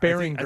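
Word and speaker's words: Baringer: I think we decided it was Beringer. I think the hard G.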